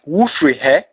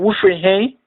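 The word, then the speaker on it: Wofiri hen: When pronounced by a native Twi speaker, it sounds more like Wufrihe or Wufrihin.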